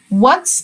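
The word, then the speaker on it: what: السؤال بقى ما اسمك وات الدبليو تضرب الاتش وتقوللها اسكتي ها يبقى اتش مش هننطقها يور نيم ما اسمك انت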